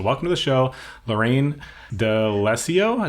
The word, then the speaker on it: D'Alessio: So welcome to the show, Lorraine D'Alessio. Is that how you pronounce it? Correct. D'Alessio, you got it.